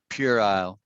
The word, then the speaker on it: Purell: a childish argument right purell so nothing to do with pure as p-u-r-e but pure owl feel right pure isle pure isle you're yeah you're saying